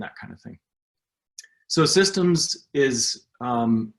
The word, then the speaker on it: CSDMS: of a mouthful but if you say it with a soft c and a hard d it sounds like systems or systems so here people call it systems and it's an organization